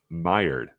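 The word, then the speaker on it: Maillard: And uh it's uh mired is how you would pronounce that word that um looks like it's spelled male and then lard. Mired or mired. Meired.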